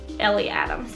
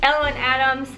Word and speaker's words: Ellen Adams: We said Ellie Adams, but it's Ellen Adams.